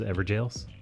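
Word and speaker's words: Evergaol: in one of those ever jails it's spelled ever gold but it's said ever jail spelling we don't do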